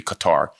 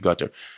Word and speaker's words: Qatar: Al Ade in in Cutter as they call it now when I was kid used to be Qatar these days it's cutter and some pronounce it gutter so a lot of